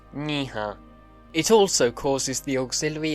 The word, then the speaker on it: nĩh̃ã: But when used on an auxiliary, or the verb ha, it's pronounced niha.